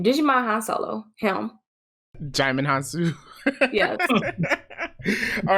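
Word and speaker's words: Djimon Hounsou: up in um I don't know how to pronounce this guy's name Digimon Han Solo him jamond hansu yes all right for anybody who doesn't know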